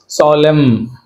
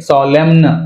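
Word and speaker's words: solemn: లేదు హిమ్ అంతే right next సాలెమ్ right సాలెమ్ అంతేగాని సాలెమ్న్ సాలెమ్న్ అనకూడదు సాలెమ్ డ్యామ్ డ్యామ్ అంతే ఎన్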